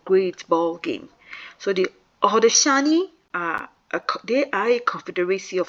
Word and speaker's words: Haudenosaunee: The Haudenosaunee and pronounced Haudenosaunee people describe it as the animals of the forest gathered for a great ball game. So the Haudenosaunee they are a confederacy of 6 different nations